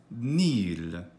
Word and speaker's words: nihil: let's have a look we can say "nihil" as "nīl" that is, with one long syllable without the H you can pronounce it